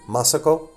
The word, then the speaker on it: Masako: Oh, emphasis on first syllable, Masako.